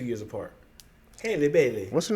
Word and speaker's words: Haley Bailey: And what makes it worse is the fact that the younger singer, her name is Haley Bailey. It rhymes with Kaylee.